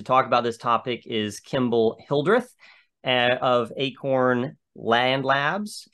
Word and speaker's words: Kemble: in Georgia and uh you can correct me if I uh pronounced your name wrong Kimball but we're really glad to have you here today thanks so much Noah you got it you got it dead on you certainly did it's